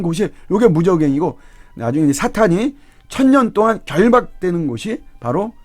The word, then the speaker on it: 사탄: 근데 이 악령에는 사탄이 있어요. 사단이라고도 하기도 하는데 이제 발음상은 트 발음이기 때문에 사탄이 좀 더 이제 정확하죠.